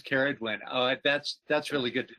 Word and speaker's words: Ceridwen: Hu, and it's interesting, pronounces Keridwin. I've been pronouncing it Seridwin. I haven't looked it up to see if that's a hard C or not. do you have some authority around that Keridwin pronunciation? Good. Yes, I'm Welsh, and most of these names are Welsh. Okay. So it is Keridwin.